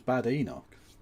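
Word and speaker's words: Badenoch: The reality is is that absolutely 100% is pronounced bad. It's a Scottish name. It's bad Enoch.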